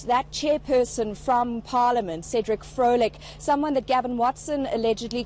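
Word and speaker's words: Cedric Frolick: And this time, Erin, it's ANC MP and National Assembly House Chair Cedric Floric. Or let me try that again. Cedric Floric, is that the right pronunciation?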